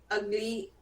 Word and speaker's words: Ugley: Ugly is in England, but it's spelled Ugley. Ugly.